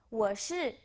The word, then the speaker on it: 我是: 我是 sounds like wash. Just pronounce the SH part harder. You can put your fingers here to feel the vibration.